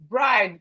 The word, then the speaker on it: bride: Bride bride. Bride. The e here is silent. The e in this word is silent.